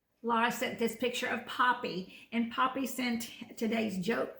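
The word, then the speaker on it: Papi: Laura sent this picture of Poppy, and Poppy sent today's joke for Gizmo. That's right. And Poppy's a good-looking dog, but it's not Poppy like a flower. It's Poppy like Poppy, like P-A-P-I.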